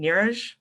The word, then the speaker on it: Neeraj: near nearest i'm sorry if i'm saying your name wrong nirish yep you got it okay um is um